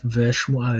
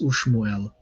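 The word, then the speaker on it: וּשְׁמוּאֵל: So instead of ve shmuel, it's ushmuel.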